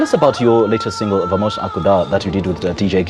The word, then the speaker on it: Vamos acordar: Okay, tell us about your latest single, Vamos Acordar, that you did with DJ Cleo.